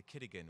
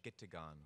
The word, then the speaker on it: Gitigan: He bought the Wigwam Bar, then sold it and bought the Kitigan, which is a mispronunciation of Gitigan, which is the Ojibwe word for garden, so beer garden, but in Ojibwe.